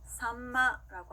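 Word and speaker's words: 秋刀魚: 또 미음 받침으로 소리 날 때는요, 마행, 바행, 파행입니다. 자, 입술이 붙었다 소리 나는 친구들 앞에 올 때는요, 미음 받침으로 소리 나는데요. 자, 예를 들어서요, 삼치라고 하는 생선은요, 일본어로 산마라고 합니다. 따라할게요. 산마, 산마.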